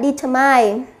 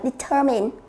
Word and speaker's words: determine: ta sẽ đọc là determine, bởi vì cái đuôi I, N, E chúng ta thường đọc là mine. Thực tế chúng ta sẽ đọc là determine.